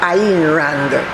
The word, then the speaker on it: Ayn Rand: her pen name was ayn rand a y n pronounced iran a writer and philosopher